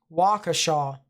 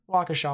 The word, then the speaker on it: Waukesha: try to pronounce names wakasha is that what i said or did i mess it up a little bit eh if i did mess it up then waukesha waukesha waukesha hopefully i get that